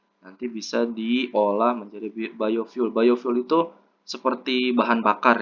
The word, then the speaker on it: biofuel: itu contohnya yang keenam energi biofuel file ya Tapi bacanya biofuel eh energi biofuel merupakan